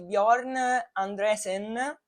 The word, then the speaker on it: Bjorn Andresen: Bellissimo documentario, è davvero molto molto commovente sulla storia di Bjorn Andresen. Penso che si pronunci così, so pronunciare meglio il tedesco, lo svedese, il norvegese che l'inglese, muoio.